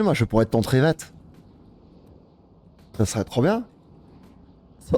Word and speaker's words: Trivette: C'est dire, c'est Triviette. Non, c'est Trivette. C'est le collègue de Walker Texas Ranger. C'est Trivette. Ah oui. T'imagines, moi, je pourrais être ton Trivette.